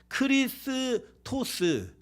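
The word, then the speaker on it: Χριστός: 그래서 이제 크리스토스 이렇게 얘기하는 게 이제 그리스어 원래 발음이고요.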